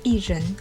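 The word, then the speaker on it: 薏仁: est par leur forme en prononce et jeunes en chinois on les trouvait dans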